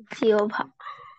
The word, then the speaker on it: জিহ্বা: ভারবার ওই জিওবাকে বলতো উচ্চারণ কি হবে জিওভা দেখছো আমি কিভাবে বলতেছিলাম জিওভা অর্থাৎ এটা আসলে ওই যে ব আছে আর ওই হ তে হ উঠে যে হ টা দিছে ব এর সাথে মিশে ব এর সাথে হ